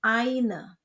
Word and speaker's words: eine: Ingat Aussprache yang sudah kita pelajari, ei dibaca ai jadi eine.